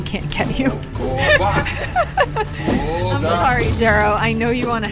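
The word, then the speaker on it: Xero: This guy is called Jero. Or Zero, depending on how you want to pronounce a name that begins with an X. I've always said it Jero.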